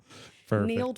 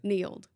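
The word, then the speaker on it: Nield: Need was easier. That was my maiden name. Say that again. Need. Oh, okay. Like field. But Neal.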